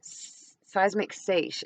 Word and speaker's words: seiche: And they use these words, seismic seiche is actually how it's pronounced.